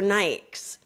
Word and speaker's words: Nike: always on there but people pronounce it wrong and I looked online and there's a guy that works in a running store and he was saying you wouldn't believe how many times people come in and ask for Nikes in a running store yeah nice that's because like European or Spanish Latin America they say Nikes same with like I'll